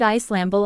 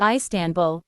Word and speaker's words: Istanbul: In English the stress is on the first or last syllable, but in Turkish it is on the second syllable.